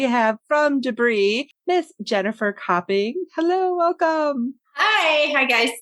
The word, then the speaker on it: Copping: my name again jennifer copping yes tapping it's the a the o sounds like an a and um the reason